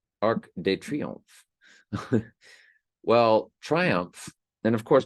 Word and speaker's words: Arc de Triomphe: Of this monument, in French, in France, we would call it Arc de Triomphe. Arc de Triomphe.